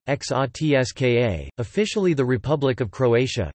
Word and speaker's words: Hrvatska: Croatia, listen, Croatian, Croatian, Hrvatska Serbo-Croatian pronunciation, XOTSKA, officially the Republic of Croatia, Croatian, Republika Hrvatska,